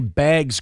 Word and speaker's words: bags: I know it's supposed to be B-A, like a B-A-Y-G-S thing. And I know we kind of say it like B-A-E-G-S.